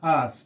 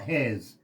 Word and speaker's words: Haas: The state, most people mispronounce my last name, but you get it right, so that's good. Okay, it is Haas, not Has.